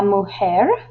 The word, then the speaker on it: mujer: La mujer, woman, and notice the H in hombre is silent and the J in woman is like an H sound.